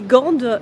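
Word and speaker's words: Gent: J'ai dit Gand, mais Claire m'a dit que je me suis gourée, que ça se dit Gand. Ça s'écrit G-A-N-D en français et G-E-N-T en belge.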